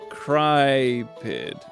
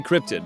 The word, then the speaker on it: Crypid: Technically, it's Crypid. Oh, Crypid. Okay, perfect. Thank you for telling me how to say it. I want to say Cryptid, but Crypid's fun.